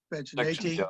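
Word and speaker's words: Vaginatae: So we have section Amanita, section Caesarea, section Vaginate, is that how you pronounce that? Yeah, Vaginate, yeah.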